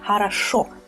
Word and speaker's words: хорошо: Well, here the ending is stressed. That is why we pronounce it strongly, хорошо.